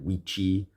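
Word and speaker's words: Wicce: It's actually Wicha and Wichi and Wichan, but I'm not doing that. It has to do with the Old English pronunciations of those words, okay?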